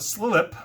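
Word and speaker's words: Slilpp: on let's talk about slip now i did not mispronounce that that's slilip as far as i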